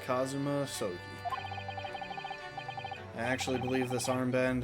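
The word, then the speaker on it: Kazuma Asogi: It's pronounced Kazuma Soi.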